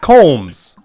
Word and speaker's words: Coombs: So to the right is Matt Coombs.